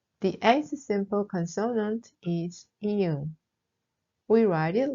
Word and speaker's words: 이응: The eighth simple consonant is 이응. We write it like a circle. We start from the top and we turn counterclockwise. It is pronounced like the end of parking or jogging.